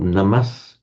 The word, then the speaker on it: namas: So the namas in Sanskrit on its own will be pronounced nam or namas on is the stem form becomes namour in in in parley.